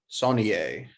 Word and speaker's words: Saulnier: blue ruin and green room both by jeremy sonnier did i pronounce that right yes yes checks out with